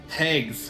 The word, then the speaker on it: Tags: Do you say it like eggs too? Eggs, but with the T. Tags, okay.